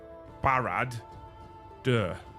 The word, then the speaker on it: Barad-dûr: Barad-dûr.